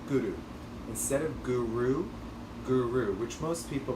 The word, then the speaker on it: guru: taking your tongue and hitting striking the roof of your mouth behind your behind your front teeth and rolling the r a bit so it sounds like this guru guru instead of guru guru which most people